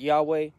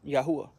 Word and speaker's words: Yahuwah: Some pronounce it Yahweh. Some pronounce it Yahweh. I pronounce it Yahuwah.